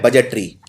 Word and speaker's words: budget: अब ये गलती कहां होती है, बजट में डी प्रोनाउंस नहीं होता, डी का उच्चारण नहीं किया जाता, तो बजट की लोग स्पेलिंग ये लिख देते हैं।